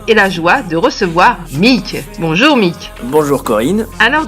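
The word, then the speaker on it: Meak: Alors oui, pour ceux qui me connaissent pas encore, alors mon nom de scène c'est Mick, ça s'écrit M-E-A-K, et j'aime me définir comme auteur, beatmaker et believer.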